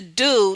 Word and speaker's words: Doux: So it's the doux, the DOUX, doux spelled like do.